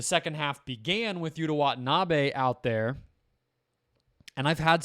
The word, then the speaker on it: Watanabe: And I've had some Japanese followers and subscribers tell me that I'm saying that name with the emphasis on the last A, and that in Japanese there is no emphasis on any syllable.